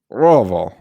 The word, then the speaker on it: Louisville: Louisville. I have been corrected many times that it is essentially just one consistent R, and that's how you pronounce Louisville. Yeah, it's just one big low R sound.